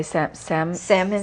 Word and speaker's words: Samhain: I'm thinking about Freya's Gift, a novella published by Samhain, or as they say, Salmon. Yeah, they do pronounce it Publishing.